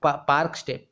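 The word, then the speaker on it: Palk Strait: ए आई टी पार्क पार्क स्टेट पार्क पार्क स्टेट है और एल उसमें जो है साइलेंट है ठीक है एल साइलेंट है पार्क स्टेट बोलते हैं इसको ठीक है पार्क स्टेट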